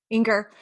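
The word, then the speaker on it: Enger: Inger.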